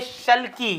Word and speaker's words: sulci: खांच है दबे हुए हैं, उनको बोलते हैं शल्की। ये क्या है, ये है शल्की, SULCI। ये तो होता है स्पेलिंग्स की, SULCI, हाँ, ये इसको गायरी बोलते हैं, इसको शल्की बोलते हैं।